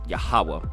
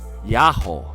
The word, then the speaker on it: Yahweh: name with 4 letters, which of late we have been used falsely to pronounce Jehovah, this is Yahweh, but seems to have been originally pronounced Yahweh or Yao, is never, I think,